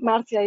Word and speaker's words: Marzia: usa welcome welcome martha marzia i apologize if i pronounce your name not right yes martial martial is the right pronunciation pronunciation hi everyone i